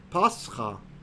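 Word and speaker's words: πάσχα: Meaning, for example, the Greek word for quote-unquote Easter is pascha. That's how you say it in Greek.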